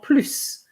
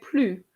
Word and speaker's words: plus: En plus. So, because that's what it means, you have to pronounce the S. Okay. You remember that I had put in the first text, plus. Je ne vais plus.